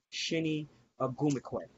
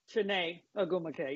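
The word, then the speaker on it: Chiney Ogwumike: know uh excuse me if I pronounce her name wrong. Penny Shinny Agumquay Chenet Aum.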